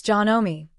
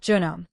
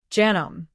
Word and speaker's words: Janome: It's Janome, not genome. Janome.